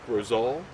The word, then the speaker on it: Roselle: right outside of Beckley, West Virginia, with Mike Roselle.